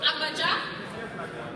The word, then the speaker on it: Agbadza: And if you missed the introduction of that dance, I may have pronounced it incorrectly. It's Agbadza. Is that okay?